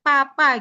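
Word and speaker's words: 爸爸: Misalnya, karena kalau misalnya bahasa Mandarin itu misalnya baba, itu nggak dibaca B-nya itu ba, tapi P, papa gitu.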